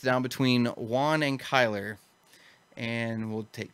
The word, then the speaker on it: Juan: It's actually Juan, and you've said it right.